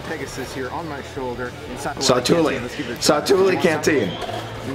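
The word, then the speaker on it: Satu'li: Then I click the cart button here, $10.99 for the Satuali. Satuli. I said the name wrong so many times. Satuli.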